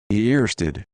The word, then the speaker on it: Ørsted: Earsted.